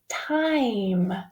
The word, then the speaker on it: time: it with me Tim what's gonna happen if I put a silent e at the end of that word take a pick a guess see if you can read it that's right it's time do you hear the